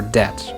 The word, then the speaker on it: debt: night, or not, or the B in lamb, doubt, or debt, or the T in